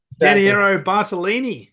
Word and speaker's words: Bartolini: that would be like in a city Soo bartalini did I pronounce that correct correct correct 100% I'm very